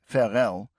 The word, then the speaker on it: Varel: commission for Germany at Varel, pronounced Fel, a small city 20 kilometers south of Villimav and on the same large bay in the North Sea coast.